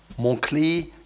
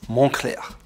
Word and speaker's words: Moncler: Moncler is pronounced that way because it's derived from the name of a town, Monestier de Clermont. So it's not Moncler, it's Moncler.